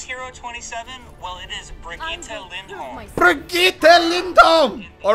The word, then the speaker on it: Brigitte: And for everyone who's saying it wrong, it's not Bridget. It's Brigitte.